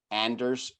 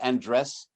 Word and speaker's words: Anders: People can find me on Twitter with what it says right there, @Anders_. It's not Andres. I'm not Spanish, I'm Danish, so it's spelled this way, Anders, E before the R.